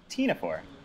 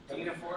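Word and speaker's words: ctenophore: how do you pronounce it? Tenaphore. Tinaphore?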